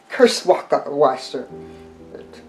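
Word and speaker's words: Kirschwasser: you use that um curse waka washer is the german pronunciation for it and um okay the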